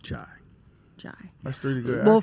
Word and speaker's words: Jai: It's pronounced Jai.